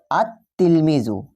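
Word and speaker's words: التلميذ: আলিফ লাম যুক্ত হয় সেক্ষেত্রে লাম হরফটির উচ্চারণ হয় না ওকে এই লাম হরফটার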